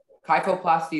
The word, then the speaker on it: kyphoplasty: your word is kyphoplasty can you repeat the word again kyphoplasty have everything yeah sure um kyphoplasty is the only pronunciation it's a noun the